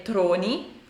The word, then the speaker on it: tronie: scultore un po' particolari la parola sembrerebbe derivare dal francese infatti la pronuncia a volte può anche essere Troni e io le dico